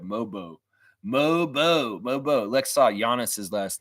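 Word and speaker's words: Mogbo: it should have said mobo on there moo the g is silent the g is silent that's right mobo moo moo Lexa giannis's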